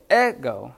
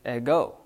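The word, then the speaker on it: ἐγώ: You don't go ego, you go ego. You're putting more on the omega at the very end.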